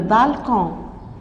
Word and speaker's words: balcon: Grand-père est sur le balcon. Il est assis, il dort. Grand-père, le D ne se prononce pas. Est sur le balcon. Le C se prononce K.